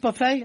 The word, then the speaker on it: buffet: Is that pronounced buffet? I've been calling it buffets all these years.